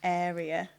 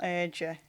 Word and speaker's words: Area: Been down to South Wales, and we just played in York with Area, not Urger, Area. That's how you pronounce it.